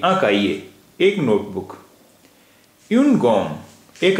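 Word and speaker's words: cahier: अ काइए एक नोटबुक देखि यहां भी हमेशा साइलेंट रहता है इसलिए काए काइए एक नोटबुक यन गम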